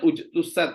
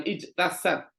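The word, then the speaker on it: اجتثت: namanya kalau diwakafkan ya kalau diwakafkan ujtusat ya karena saya berhenti jadi bacanya ujtusat bukan ijtasat ya kalau diwasolkan baru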